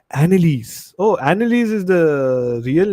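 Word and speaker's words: Anneliese: How do you pronounce this name? Let me see on Google. Annalise. Oh my god. Such a fucking easy name I could not pronounce. Annalise.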